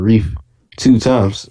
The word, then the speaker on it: Rief2x: So I just flipped it to Rief 2 times. That's the proper way to say it, but I just say Rief2x.